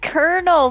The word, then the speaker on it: Colonel: It's called Colonel, but there's no R in it. It's like it's supposed to be pronounced Colonel. Yes, there's just a lot of silent letters in the word.